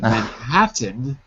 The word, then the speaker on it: Manhattan: called man Manan but Manhattan had so many te's that we just didn't say them we said M manhatt